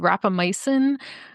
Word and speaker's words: rapamycin: understanding is that that's with a drug called rapamycin am I pronouncing that right yes are and that there's